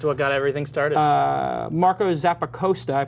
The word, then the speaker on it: Zappacosta: Marco Zappacosta, I pronounced it correctly. Yeah, Zappacosta. Zappacosta.